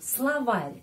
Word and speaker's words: словарь: Yang kamus, kamus itu словарь, kamus. Словарь, словарь. Ya, juga perhatikan ke pronunciation ya. Словарь. Ada tanda pelemah yang melemaskan huruf R.